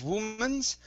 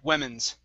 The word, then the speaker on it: women's: okay this word here instead of womans it's w women thaten let's see women sorry women's women's with a we instead of wo we women's women's okay